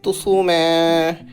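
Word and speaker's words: 爪: আঙ্গুল বাংলা ভাষায় নখ নখ জাপানিজ ভাষা হবে তুসুমে মানে নখ হাতের নখ উচ্চারণটা হবে তুসুমে মানে নখ বাংলা ভাষায় ঠোট ঠোট জাপানের ভাষা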